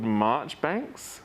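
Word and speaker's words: Marjoribanks: people basically so there was a bloke called march banks spelt margaery banks but pronounced differently because it's england um because england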